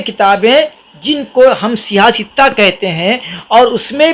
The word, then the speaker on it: صحاح ستہ: کو تکلف ہوتا ہے، اس کا تلفظ بھی لوگ صحیح نہیں کرتے، کوئی صحاح بولتا، صحاح ستہ، صحاح ستہ، اور جو ہے کیا کیا بولتے، پر صحیح کی جمع صحاح ہے۔ تو وہ 6 کتابیں